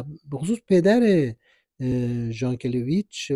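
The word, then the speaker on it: Jankélévitch: یک طرف هرچند که این تلفظ نامش به صورت ژان کلیچ و نه یان کلیچ که روسی این کلمه هستش خاصی بوده که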